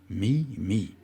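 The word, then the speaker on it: meme: a volontairement voulu en jouant sur le mot mi mi qu'il prononce MIM en anglais et qu'il écrit moi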